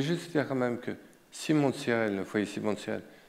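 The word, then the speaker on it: Simon de Cyrène: Je voulais juste dire quand même que Simon de Sirel, le foyer Simon de Sirel, je suis président d'honneur de ce foyer dans toute la France.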